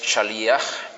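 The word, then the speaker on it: שליח: Y la palabra en singular es shalia con acento en la i. y en plural shlijim con el acento en la última i shliim como aparece aquí.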